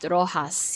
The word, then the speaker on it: Roxas: Roxas. Roxas maybe. So just to make things clear that would be pronounced Rohas here. Like that is a legit name of quite a few people.